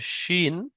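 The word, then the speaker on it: شين: উপরে 3টে নোক্তা আছে, এটাকে শিন, তালবের স্বর মতো উচ্চারণ করতে হবে, শিন।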